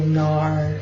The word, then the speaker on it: NARS: so I got this eyeliner going on I'm just going to take my Nars it's really Gnar I'm gonna pronounce the S but anyhow smudge brush number 15.